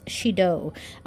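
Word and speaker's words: 始動: And I usually see this with the pronunciation or the way it's said as haji, hajime, yeah, things like that. But combined with this kanji, it's shido.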